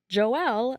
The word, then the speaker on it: Joel: Joelle Leva, his name is spelled like Joel, but it's Joel, was born into a religious household.